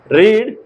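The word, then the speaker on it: read: Are books, क्या किताबें, क्या बुक्स नॉट नहीं, रीड बाय हर उसके द्वारा नहीं पढ़ी जाती है। अब इसका जो प्रोनाउंसिएशन होगा दोस्तों रीड का, यहाँ पे रेड होगा, क्या होगा? रेड।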